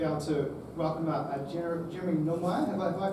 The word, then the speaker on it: Nilmeier: And in a moment, we're going to be able to welcome up Jeremy Nilmeier. Have I pronounced that correctly?